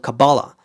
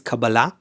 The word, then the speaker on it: Kabbalah: to Hollywood I think people learned how to mispronounce it. They think it's called cabala. There's no such thing as kabala. It's just uh wrong pronunciation in Hebrew. The word is cababala and the meaning of the word is reception.